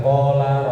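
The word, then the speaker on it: قال: Kalau dibalik qofnya yang panjang lamnya pendek. Qola artinya ngomong berkata. Kan sering kita dengar qala Rasulullah.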